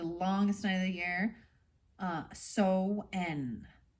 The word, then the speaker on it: Samhain: The ancient Celts used to call the time of the longest night of the year So-en, or Samhain. I always call it Samhain. I would say it wrong.